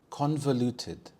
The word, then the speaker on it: convoluted: room whenever she enters convoluted convoluted the stress is on the first syllable con convoluted this means when something